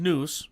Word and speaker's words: Snus: camel has uh now it's actually pronounced snoo okay in case you didn't know a lot of people